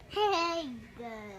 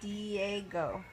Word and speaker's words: Diego: Hey, go. No, it's Diego.